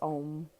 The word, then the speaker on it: Om: So it really doesn't matter how we spell it in English, because truly Om is that. That is Om. And that is how we pronounce it, is Om.